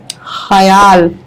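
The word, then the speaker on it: ख़याल: खाली कैसे हुआ ऐसे इसमें आधा खा आना चाहिए खयाल आधा आधा खा आएगा ना बताइए वर्तिका खयाल नीचे बिंदी खयाल इसीलिए तो बीच में रोका कि खयाल का उच्चारण से होना चाहिए एक शेर है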